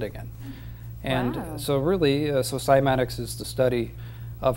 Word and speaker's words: PsimatiX: turns into sand again and so really so simatics is the study of how sound affects matter